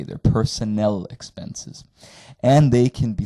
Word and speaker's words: Personnel: in German they're pronounced Personnel expenses the emphasis is on the last syllable and it's an e at the end not an a they're Personnel expenses and they can